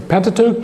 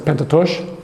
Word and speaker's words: Pentateuch: A written Torah, which is the Pentateuch, please don't pronounce it Pentatosh, and a written Torah, which is to say rabbinic tradition itself.